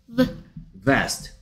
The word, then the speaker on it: vest: Vest 가 아니고 Vest 윈니가 아랫 입술을 스치면서 V 해보세요 V Vest 오케이 하나씩 V E 합쳐서 Vest E는 E-L-O